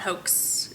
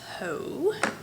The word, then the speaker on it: Haux: It's the French version, not the American slang. The X is silent. It's not hoax. It's Haux.